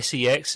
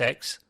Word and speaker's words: CeX: in the UK called CeX uh not seex CeX but it is pronounced x uh and it's secondhand